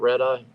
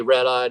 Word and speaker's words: RedEye: all right rede 18 is that how you say it red eyee yep so you say red eyee number 38888 388 your